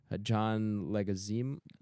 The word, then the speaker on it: Leguizamo: Paul Adelstein, John, how do you pronounce his name? Because I've seen this guy before. John Leguizamo.